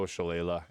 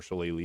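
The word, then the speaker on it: Shillelagh: And for the caners, we can go shala and thorn whip or challe if you prefer that pronunciation.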